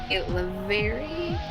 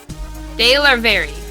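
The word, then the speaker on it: DeLarverie: drag king, named Stormy Lavery. Leo, you did the wrong pronunciation. He did. We would have gotten Stormy. It's the last name we need help with. De Larvery. Okay.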